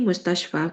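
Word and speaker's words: مستشفى: Tetap walaupun ada fi tapi mustasyfa. Karena yang harusnya dapat harakat kasrah si alif bengkok tapi enggak bisa muncul kasrahnya.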